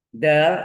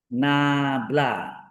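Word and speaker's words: ∇: Del adalah do per do X, do per do Y, do per do Z. Berupa vektor. Ini bacanya nabla atau del.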